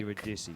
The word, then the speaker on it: Eurydice: And pronouncing it Yeah, 4 yeah. times and like... Eurydice.